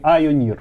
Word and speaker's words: Ioneer: Компания Ionir, или Ionir, правильно говорить, от слова ион и пионер.